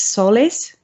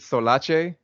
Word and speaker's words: SolAce: Oh, just to make sure about the pronunciation, it's SolAce? SolAce, you got it. SolAce, okay. Nice, nailed it. I had one person ask me, "Is it Solace?"